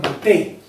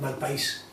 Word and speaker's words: Malpaís: aquí en el mapa le llaman Malpey? ¿Esto es nombre español? Digo, escríbemelo como se escribe. Y yo, Malpaís.